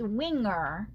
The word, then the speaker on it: Wigner: a mistake so it's it's Winger Winger cuz it rhymes with ring okay so it's not wigner Winger Winger okay because Sam